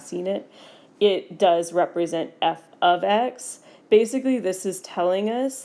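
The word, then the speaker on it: f(x): I do want to mention that this thing is, if you're saying it, it's pronounced f of x. Most of the time, by the time people get to precalculus, they realize that it's not f times x.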